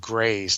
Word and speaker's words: Greys: It's actually 50 Shades of Greys. That's plural, G-R-E-Y-S. And you've been using the singular, which tells me what kind of smut you've been reading.